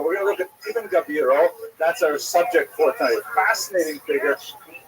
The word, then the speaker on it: Ibn Gabirol: pointed out to me it's not Ibn Gabriel, it's Ibn Gabirol or Gavirol. I put the I in the wrong place.